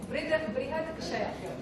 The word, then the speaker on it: Brihadakshaya: Now after the correct pronunciation. Brihadakshaya. Okay. So this is how it is pronounced.